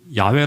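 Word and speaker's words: 야훼: 심지어 성경을 읽을 때도 야외 라고 하는 이름이 나오면 강의 죄인의 입에 그 입을 담 그조차도 불경 하다고 생각해서 본래 발음대로 잃지 않고 어떻게 잃는다 아도나이 이랍니다 주님 이라고 이렇게 읽었어요 아 음 그래서 이스라엘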